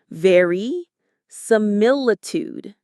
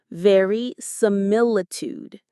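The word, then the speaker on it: verisimilitude: Very similitude. Very similitude. It's a long one. The main stress is on that third syllable from the end. Mill. Very similitude.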